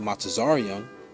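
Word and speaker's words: מצרים: by ships egypt and the hebrew is pronounced mata zaryan which means double straights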